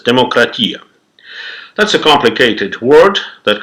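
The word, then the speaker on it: δημοκρατία: As of today, almost everyone knows that the word democracy came from ancient Greece, where they used to pronounce it as demokratia.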